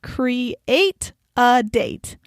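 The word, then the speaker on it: CRE8AD8: eight a d a.d numeral 8 which is pronounced create a date which is an event planning company in san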